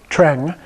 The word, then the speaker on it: Treng: Now here, the E is not pronounced like an A, but when you have the NG after it, it's pronounced more like a short E sound, Treng.